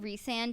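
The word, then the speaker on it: Rhysand: how everything with re I'm saying reand because that's how the author pronounces it it was just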